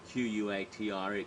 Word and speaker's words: quatre: I like the 4-letter 4 because it sounds like cat. It's actually Q-U-A-T-R-E, quatre, but it's often pronounced cat.